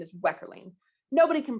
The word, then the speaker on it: Wekherlien: last name my actual technical last name is weckerling nobody can pronounce it nobody's gonna remember it right and